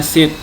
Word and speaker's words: sheet: Range yang saya ingat tadi mikroskop, Ranger dengan apa ya, set kayaknya tadi, harusnya sheet, SHEET itu sheet bacanya, makanya namanya kalau di Google itu spreadsheet, bukan spreadsheet, beda lagi tuh.